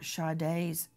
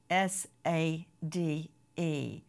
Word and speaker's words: Sade: know that there will be a fundraiser for shade's funeral go to Justice for shade and that is spelled s a d e like you would say Sade like Sage it's